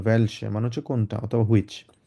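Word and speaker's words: welche: বলবো ভেয়া তারপর হচ্ছে ভেলসে ভেলসে হচ্ছে কোনটা হ্যাঁ এটা যেহেতু ডব্লিউ এটাকে আমরা ভে এর মধ্যে উচ্চারণ করবো ভ্যালসে মানে হচ্ছে কোনটা অথবা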